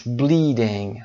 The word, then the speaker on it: bleeding: bleeding her finger is bleeding. تلفظ رو هم دقت داشته باشید، انجی در آخر نیزال هست، صدای گ شنیده نمیشه.